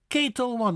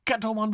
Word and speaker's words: Ketel One: A famous vodka from the Dutch nation would be Ketel One, not Kettle One, but Ketel One. A-E-A. Ketel One. Ketel One, not Kettle One, but Ketel.